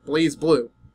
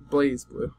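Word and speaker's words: BlazBlue: be and by the way Blas blue is pronounced blaze blue so blaze blue okay any video game character I would say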